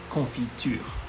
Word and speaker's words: confiture: be putting on the bread jam is la confiture bit of a long word so i'm going